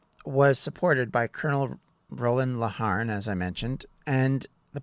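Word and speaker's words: Laugharne: Poyer was supported by Colonel Roland, and I believe you pronounce the name Laharn, but I could be wrong, Parliament's military commander in Pembrokeshire, and a small force of about 100 soldiers which defended the castle.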